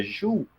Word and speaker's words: Joule: James prescott Joule né a gente abrasileirou para a jaula e na realidade é um sobrenome francês pronuncia Ju mas ninguém fala dois rios a gente fala dois aulas né então o que